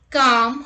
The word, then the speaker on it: calm: look at the rule l is not pronounced after the vowels a o and u let's look at the examples calm half talk walk would